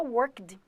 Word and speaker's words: worked: Eu vou colocar worked. Lembrando que não pronuncia worked, tá bom? Todo mundo quer falar ed, igual play ed.